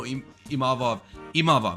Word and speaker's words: Imavov: I did not know Imavov, that's how you say it.